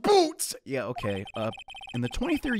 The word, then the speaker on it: Butz: it's usually the butts it's pronounced boots yeah okay in the